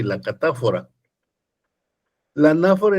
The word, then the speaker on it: catáfora: la anáfora y la catáfora. Anáfora y catáfora. Anáfora con acento en la A. Catáfora con acento en la A.